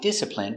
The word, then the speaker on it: discipline: is a verb I discipline my children I discipline my child when he doesn't behave pronunciation discipline d d p disip disciple disciple discipl discipl discipline discipline discipline stress on the first syllable discipline discipline discipline I